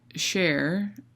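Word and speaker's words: cher: the term of endearment share and from French won't share pronounce sha and other places like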